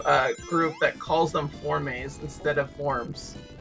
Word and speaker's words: Forme: I'm sorry what um the proper pronounciation of a Deoxys for is for cuz it's f o r m e but like in the like the French pronunciation or uh Spanish so nobody expects punish